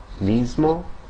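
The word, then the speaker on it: mismo: Also before certain consonants such as M and D, the S can have more of a Z-like sound like in the English pronunciation of Lisbon. Okay. Examples in Spanish, nismo and deszde. So it's more of a Z sound.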